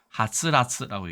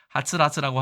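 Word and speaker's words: 溌剌: 그래서 하츠라츠라고 얘기합니다.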